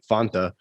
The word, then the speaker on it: Fanta: supposed to pronounce it well the commercials the the commercial pronounced fonta so i'm going with fonta yeah exactly that that's